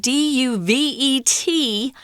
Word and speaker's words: duvet: call a duvet cover duvet is a French word d-u-v-e-t you don't pronounce the T it's duvet and that's